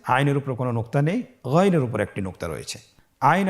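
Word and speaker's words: غ: জবর গন জের গি গন পেশ গু আগের হরফটি বানান ছাড়া বলুন আউ পরের হরফটি বানান ছাড়া বলুন আবার বলুন গন হরফটি মোটা অক্ষর উচ্চারণ করার সময় অবশ্যই মোটা করে বলতে হবে আইন এবং গন হরফটি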